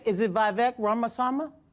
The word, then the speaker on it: Ramaswamy: about other I'm V is it VC ramasama ramas ramaswami thank you so much I learn so much